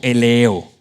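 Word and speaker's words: ἔλεος: Eso se pronuncia más o menos como eleo.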